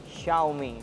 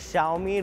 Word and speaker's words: Xiaomi: Xiaomi. It's pronounced as Xiaomi, written with an X.